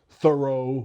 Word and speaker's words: thorough: Um, there's thorough where it's pronounced o and there's the word do where it's pronounced like do.